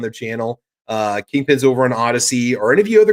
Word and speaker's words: Odysee: Kingpin's over on Odyssey. Are any of you other guys over on Odyssey? Single Shot, are you on Odyssey yet, or Rich White?